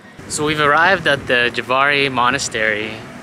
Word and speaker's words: Jvari: Jvari? No. Jvari? No. I think the J is kind of silent. Is it? So we've arrived at the Jvari Monastery.